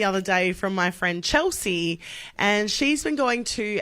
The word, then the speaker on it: Chelsea: Chelsea. Well, every time she goes there, they write it correctly on the cup, but they pronounce it Chelissa.